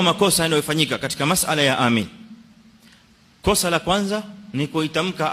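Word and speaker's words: آمين: Inda baadhi الناس, kwa baadhi ya watu wanaitamka amin kwa tashdid almim. Kwa hivyo wanasema badala ya kusema amin wanasema amin, tashdid almim, wa hadha khata, kwa sababu hii inabadilisha maana ya amin.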